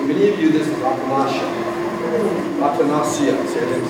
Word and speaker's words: Atanacia: To me, this is Atanacia. To many of you, this is Atanacia. Atanacia, see, I didn't say it right, okay? But to me, this is Atanacia, I'm Anglo, okay?